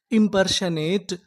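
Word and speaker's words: impersonate: यहां पर जो हमारा ओ है यह साइलेंट रहेगा। एन ए इसे क्या पढ़ेंगे? ने टी ई टा। तो हमारी पूरी मीनिंग क्या बनी? इमपशनेट इंपर्शनेट इंपशनेट इंपर्शनेट का मतलब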